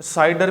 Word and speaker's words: CIDR: Classless addressing को हम CIDR भी बोलते हैं, साइडर भी समटाइम प्रोनाउंसिएट करते हैं।